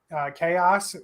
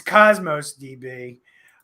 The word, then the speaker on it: Cosmos DB: Chaos or Cosmos DB. Hey, say it right, or someone's going to be. The guy from Syracuse is going to yell at me. It's Cosmos DB, and this database is